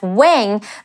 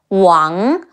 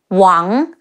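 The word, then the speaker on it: 王: pronounce the surname as Wang, but the A-N-G in Mandarin is close to the A-U-N as in aunt in British English. Ang, now add the tone, the rising tone, Wang, Wu Ang, Wang, Wang Yi, Wang Yi.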